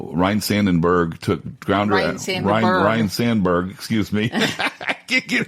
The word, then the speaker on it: Sandberg: I think of Kobe Bryant, Ryan Sandenberg, Sandberg. I pronounced it like Harry Carey.